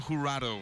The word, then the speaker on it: Jurado: Ariel Jurado. Jurado. Ariel. As you can see, they're spelled J-U-R-A-D-O. They say the J is sometimes silent.